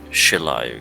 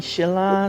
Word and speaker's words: Shiloh: thinner foreign now forgive me if I gotten your name wrong but it's uh Shiloh correct oh yeah yeah some of my peeps call me Sheila some Sheila some some it depends see the pants off